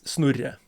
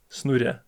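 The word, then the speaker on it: Snorre: But my real name is Snurya. S N O R R E. Snoody. It's a little hard to pronounce. Old Viking name.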